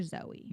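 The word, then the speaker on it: Zowie: Duncan had a daughter in 2018 and he named her Zoe. Nice. And please know that Zoe is spelled Z O W I E.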